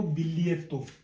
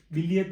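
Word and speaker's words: biglietto: बी लियत तो B plus लियत plus तो इसको पूरे को बिल्लियत बिल्लियत का मतलब होता है टिकट जो हम बस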